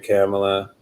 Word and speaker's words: Kamala: I will say to Kamala Harris, and that's the correct pronunciation of her name, Kamala.